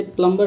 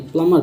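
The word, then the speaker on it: plumber: अक्सर होता क्या है, एम के बाद यदि बी है तो बी आपका साइलेंट होता है, अक्सर, हमेशा नहीं होता लेकिन अक्सर होता है। जैसे कि इसे क्या पढ़ेंगे, नम, NUM, नम, डम, क्रम। अब इसे प्लम्बर नहीं, प्लमर पढ़ेंगे, प्लमर। अब जैसे कि DGE आपको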